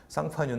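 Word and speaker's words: Champagne: 명칭 쓸 수 있습니다 근데 왜 어떤 땐 상판 여러 부어 어떨 때는 참 팬이라고 웨어에 상파뉴 는 불어 식 걸음 이구요 샴페인은 영어식 발음이다 보통 지명을 거론할 때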